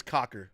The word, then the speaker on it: Coker: La remains out uh Coker or uh sorry uh J yeah that's Cocker okay thank you just just double- checking that we still got the pronunciation correct of the Panthers he